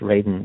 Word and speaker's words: Radin: And by the way, it's pronounced Radin, not Radin.